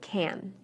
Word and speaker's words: can: When I say can inside a sentence, I shorten the A. Listen carefully to these sentences and pay close attention to the word can.